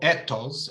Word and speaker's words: ethos: uh thousand years old the first is ethos or ethos I believe in the Greek pronunciation which means credibility knowledge